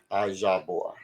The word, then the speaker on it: IJAHBOR: Got to say the bor. The bore. So not bar, bore. IJAH. You know how to say the Jah Hmm. from the Jamaicans. Jah. IJAHBOR.